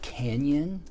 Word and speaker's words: canyon: like that okay kind of like in the word canyon we have that in english we the sound is in english but the letter is not right so in english you have canyon which is spelled c-a-n y-o-n i have to look at my notes because i'm a bad speller in english but anyways canyon canyon right so that sound that's what this is alright let's go to